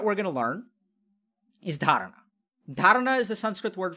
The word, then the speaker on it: dharana: So at the end of the day, the first thing that we're going to learn is dharana. Dharana is the Sanskrit word for focus. It's spelled D-H-A-R-A-N-A, dharana.